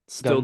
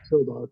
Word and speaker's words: Sildar: Stildar? Gundren or Sildar? Sildar.